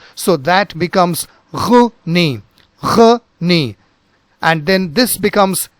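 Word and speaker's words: René: Before we go ahead, let me tell you that it is not Rene, it is not Rene Descartes, but something else. First, let us look into this part. Now this is pronounced as Rene, Rene, and this portion is pronounced as Descartes, Descartes.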